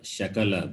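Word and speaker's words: शकल: very important in samskritam if you are wrongly pronounced it can mean different it can mean different like for example sakala or shakala both are different sa and one is parts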